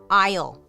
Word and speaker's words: aisle: Dark history of why is it spelled like that? Aisle.